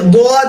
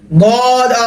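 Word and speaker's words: ضاد: তারপর আসে আরেকটা হরফ, বদ। জিহ্বার গোড়ার কিনারা উপরের মাড়ির দাঁতে লাগবে, বদ, বদ, দোয়াদ না। অনেকে দোয়াদ বলবে, মুখ গোল হয়ে যাবে না, বদ আর হা করে ফেলবে না, বদ, বদ। 3 আলিফ টান, সদের উপরে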